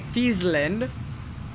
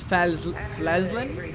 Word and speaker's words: Flesland: I used to say Fiesland, but I guess it's Flesland?